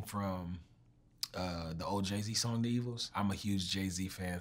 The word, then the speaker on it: D'Evils: People come up to me like, yo, your song Devils, it's so amazing. I'm like, thank you. For everyone that does not know, the song is pronounced The Evils.